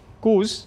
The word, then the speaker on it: coup: to is I've seen companies go through a coupe a coup is how you pronounce it actually these are like cancers where